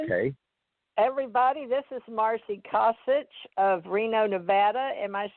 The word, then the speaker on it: Kosich: Kosich.